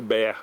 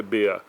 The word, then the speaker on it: Behr: Isso é o nome em inclusive pronunciado em alemão. Nós nós falamos o BR, né? Mas tudo bom. Mas o alemão mesmo é BA.